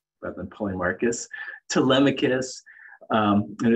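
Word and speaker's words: Polemarchus: when i started reading plato's republic i phonetically pronounced that the name of paul marches rather than paulie marcus telemachus um it it's so funny because like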